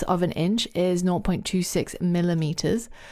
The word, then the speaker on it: em: pronounced em it's pronounced M so it's pronounced in the same way that this letter is in the alphabet why is that well